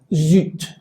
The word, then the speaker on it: zut: Y entonces la tendencia es que esto, por ejemplo, se pronunciaría zut, zut.